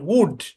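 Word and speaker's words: would: Okay, then they decided that they উড, এটার উচ্চারণ উড, মুখস্থ করাইছিলাম এটা। হ্যাঁ, এখানে এলটা সাইলেন্ট, এলটা সাইলেন্ট, আর এখানে ও ইউ মিলে উ উচ্চারণ দিবে, উড।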